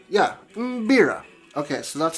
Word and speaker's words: mbira: beera it's spelled m-b-i-r-a so if you uh pronounced beera yeah beera okay so that's how it's pronounced uh and